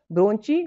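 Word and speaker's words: bronchi: Trachea नीचे की तरफ दो छोटे हिस्सों में बढ़ जाती है, जिससे ब्रोंची बोलते हैं। क्या बोलते हैं उसे, ब्रोंकी बोलते हैं। यहाँ पे अलग अलग प्रोनाउंसिएशन हो सकता है, और सिंगुलर में यहाँ पे क्या बोलते हैं, इसे ब्रोंचस बोलते हैं।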